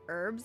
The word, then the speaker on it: herb: say herb or herb do you say herbal tea or herbal te I don't pronounce the h and I feel like that's wrong hello stream that sh